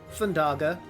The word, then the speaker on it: Thundaga: Thundaga. Yeah, I think how you're saying it is the correct way because it's supposed to be like Firaga and Blizzaga.